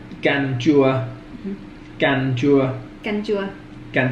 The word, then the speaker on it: canh chua: Canh chua. Canh chua.